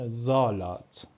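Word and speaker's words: Salat: ببینید ما اگر بعد از حرف اس یک حرف صداداری داشته باشیم، حروف صدادار مثل حروف آ، ا، او، او این‌ها تمام حروف صدادار هستن که آوای کلمه رو آوای حرف قبلشون رو تغییر میدن. اون موقع حرف اس ما ز خونده میشه مثل این کلمه که ما می‌خونیمش زالات ما می‌خونیمش زالات به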